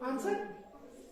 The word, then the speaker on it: answer: आंसर वर पढ़ना चाहिए ना, आंसर पढ़ना चाहिए, लेकिन हम पढ़ते क्या है? आंसर। इसका मतलब हमने इधर W खा लिया, ANSWER, आंसर।